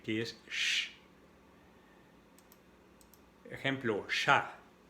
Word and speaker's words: chat: Ejemplo, chat. Y en francés el sonido es cha, no como si tendríamos la T enfrente, cha, no, cha. Y aquí la T no se pronuncia, es un sonido A, la A y la T.